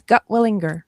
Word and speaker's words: Gutwillinger: It's gut willinger. Yes. Okay, that's exactly how you said it.